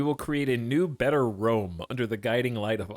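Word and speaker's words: Rûm: We will create a new, better Rome under the guiding light of Allah. Oh, it's Rome, but it's spelled rum.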